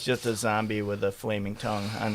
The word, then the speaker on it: Zonbi: This is They're called zombie puffs. Zombie puffs. No, it's spelled with an N. It's weird, and there's no E. It's ZONBI. ZONBI.